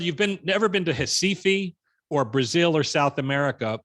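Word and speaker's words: Recife: square box there uh pronounced in portuguese hessifi now if you whether you've been never been to hasifi or brazil or south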